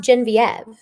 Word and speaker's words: Genevieve: you clarify but although your name is spelled Genevieve yes it is pronounced gen viev yes that's how I pronounce it yes yes well and